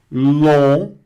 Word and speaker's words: long: Long, long. Não pronuncia esse G aqui, repete. Long. Muito bem, G mudo, ele não aparece, tá? E o ON aqui, bem nasalado, long, que é longo, tá certo?